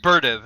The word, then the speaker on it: Berdyev: with the bdev but apparently he supposed to be pronounced berv and I don't understand